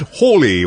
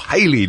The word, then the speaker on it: Halley: Comet Halley or Halley or Haley, however, it doesn't matter how you pronounce it. The only people who will misunderstand the comet you mean are people who make a habit of being awkward. So don't worry about it.